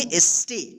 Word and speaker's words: stay: या आई रहे तब उस ए का ए उच्चारण होगा। ठीक है, जैसे यहाँ पे देखिए STAY क्या पढ़ेंगे, एस्टे, क्या पढ़ेंगे, एस्टे।